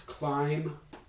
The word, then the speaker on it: climb: These are words like dumb, which is spelled with an mb at the end, but there is no actual mba cluster. And are there some other ones? Climb, the verb to climb something.